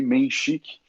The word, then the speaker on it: Menchik: nome é menchik é bem como se escreve ali menchik o sobrenome e eu